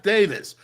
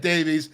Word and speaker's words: Davies: When I put it out there today, I misspelled his last name. I said Jeff Davis. No, it's Jeff Davies. and I knew his name just because I said it right in the preview. I said Davies, but I put it out as Davis, so I apologize for that.